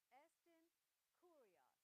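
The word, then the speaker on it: ἐστὶν κύριος: Anybody want to pronounce those first two words? E-S-T-I-N. Estin. Estin. Estin Curios.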